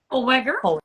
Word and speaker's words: Holweger: and let me know if I'm pronouncing this right, Holweger? Holweger.